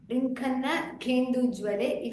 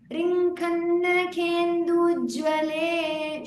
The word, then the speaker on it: रिङ्खन्नखेन्दुज्ज्वले: रिङ्खन्नखेन्दुज्ज्वले दुर्वाङ्कुराशङ्कसारङ्गसंयोगरिङ्खन्नखेन्दुज्वले दुर्वाङ्कुराशङ्कसारङ्गसंयोगरिङ्खन्नखेन्दुज्वले Okay, do not pronounce it as Rinkhanna Kendujwale. If I pronounced it that way also, it is wrong. Make sure you don't make that Kendujwale evident because it is Nakendujwale. So Rinkhanna Kendujwale should be together.